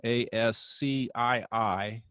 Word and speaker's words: ASCII: code for information interchange so it's an acronym a s c i i and it's pronounced ascii and the original ascii uh was